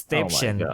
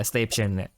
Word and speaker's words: Stäbchen: So it's Stäbchen. Yeah, Stäbchen.